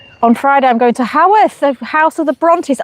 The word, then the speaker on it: Haworth: I can never say it right. It's Haworth. Haworth, isn't it?